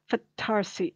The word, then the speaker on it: Fattarsi: found really interesting is the family known as fattarsi f-a-t-t-a-r-s-i fatharsi sometimes you'll see it with one